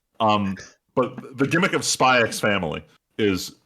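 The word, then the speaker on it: Spy × Family: You don't pronounce the X.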